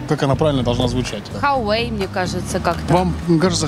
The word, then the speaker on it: Huawei: Huawei, мне кажется, как-то. Вам кажется Huawei? Да. Huawei. Huawei. Huawei. Huawei. Huawei. Huawei. Huawei. Huawei. Вариант. Вот правильный ответ. Huawei.